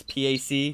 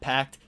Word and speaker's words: PAC: from better money pack that's PA see not packed PA see okay your